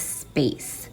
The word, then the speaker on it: space: and we know that the silent e makes the a say the long a sound so let's